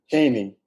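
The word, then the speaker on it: Cheyney: Gary himself is a graduate of, Gary, you have to help me pronounce this. It's Shane University? Caney.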